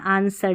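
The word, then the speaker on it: answer: आंसर W silent है।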